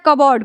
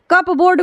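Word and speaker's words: cupboard: नहीं हुआ है लेकिन बीच में पी और बी एक पास आया है तो हम क्या कर रहे हैं पी को साइलेंट कर दे रहे हैं हमने खाली क्या पढ़ रहा है हम कबर्ड पढ़ रहे हैं ठीक है कप बोर्ड कोई नहीं पढ़ता है इसको क्या कर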